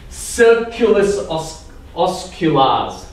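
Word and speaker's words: circulus osculans: So this is called the kissing circle, or in Latin, because everything sounds better in Latin, circulus osculars.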